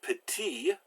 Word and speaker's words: petit: careful with those consonants now constants are always pronounced if they're followed by a vowel so here we have p'tee which is little and it's masculine so there's